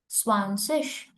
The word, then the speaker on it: zwanzig: Zwanzig. This ZIG will pronounce like a ish.